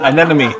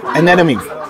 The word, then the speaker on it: anemone: But we went snorkeling in a how to pronounce for me in English? Anemone fishes, Nemos, Yeah, anemone. anemone.